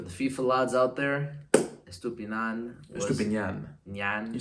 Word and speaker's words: Estupiñán: Estupiñán, for the FIFA lads out there, Estupiñán.